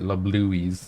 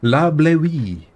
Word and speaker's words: La Bleuie: I remember I was pronouncing it La Bluies before. La Bleuie.